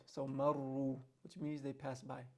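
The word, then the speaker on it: مرّوا: And again, we mentioned this earlier, that the alif there is silent. The alif indicates that it's that the word is plural. So here the word is plural, and you're not going to pronounce the alif.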